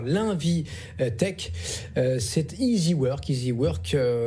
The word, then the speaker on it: iziwork: Easy Work, ça s'écrit I-Z-I et Work, comme travail donc en anglais, qui devient leader digital de l'intérim en France avec une belle levée de fonds.